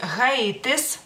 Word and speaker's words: Haitis: Entonces Haití de nuevo, como viene con la H, pero la H sí se pronuncia en lituano, entonces es Haitis.